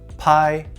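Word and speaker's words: 拍: This character is pronounced pai and means clap.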